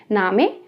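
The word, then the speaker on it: Name: तो जो students first time German सीखते हैं वो इसको देखकर बिल्कुल सोचते हैं नेम, या बिल्कुल इसकी जो स्पेलिंग है वो इंग्लिश के नेम की तरह है, बट जो इसकी जर्मन साउंड है das ist oder नामे। या तो आप इसको नामे बोल सकते हो, नामे, क्योंकि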